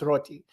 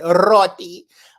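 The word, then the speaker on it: roti: replacement I think and it's roty and you have to roll your RS you say roty they they do eat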